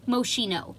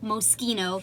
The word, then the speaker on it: Moschino: long line from moschino this is how you say this not moshino it is pronounced moschino and this is their